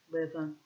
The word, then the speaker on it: Lewin: How did I say I was going to pronounce it from the beginning? Levin. But it is spelt Lewin.